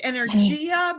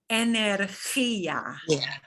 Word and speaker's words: energía: And lots of people want to pronounce this energia, but it's not energia because we don't have a j sound at all for this letter. It is energia.